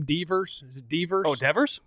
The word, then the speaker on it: Devers: Devers? Is it Devers? Oh, Devers? Devers? Yeah, Devers.